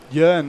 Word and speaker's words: Ewan: Ewan, that's how you pronounce it.